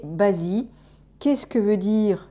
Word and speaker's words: Bazi: the deep and the en chinois en français prononcés basi qu'est ce que veut